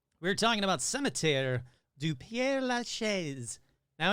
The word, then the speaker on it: Père Lachaise: Cimetière du Père Lachaise. I guarantee you that's wrong, so let's find out how to pronounce Here we go.